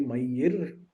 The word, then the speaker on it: Mayur: he was going for mayur where you're thinking it would be my year by any sense where I live that is uh pretty much how my name is pronounced it's no limit offensive